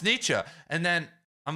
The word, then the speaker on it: Nietzsche: And so then everyone else is, no, it's Nietzsche.